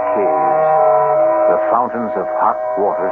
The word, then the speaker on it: cave: word spelled the same way C A but pronounced cave it means beware our cast included Marian selas